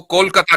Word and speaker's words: कोलकाता: हुँ, आपने कलकत्ता को कोलकाता कर दिया, चूँकि उसका प्रोनाउंसिएशन कोलकाता है ना, बंगाली प्रोनाउंसिएशन।